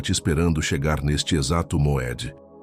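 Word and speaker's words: מועד: o que te trouxe até esta sexta-feira, é Moed. Pronuncia comigo em voz baixa. Moed. Moed não significa apenas tempo, significa encontro marcado, tempo designado, hora apontada.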